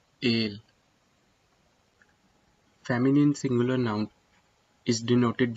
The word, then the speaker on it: el: Always remember that masculine singular noun is denoted with el and its pronunciation is ale, ale.